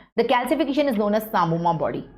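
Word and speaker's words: psammoma: The calcification is known as samoma body. P is silent here. Sam samoma body.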